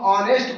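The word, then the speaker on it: honest: हम बॉय को नहीं देखे हैं, हम ऑनेस्ट को देखे हैं। हम किसको देखे हैं? ऑनेस्ट को देखे हैं। तो जब ऑनेस्ट करते हैं उच्चारण तो अ आता है।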